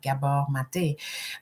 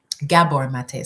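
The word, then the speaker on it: Gabor Maté: especially if you start listening to doctors like Gaba mate um Gabor mate sorry the syllable um you know when we're not when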